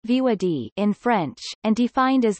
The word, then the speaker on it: voir dire: to the courtroom to participate in voir dire pronounced VOD in French and defined as the oath to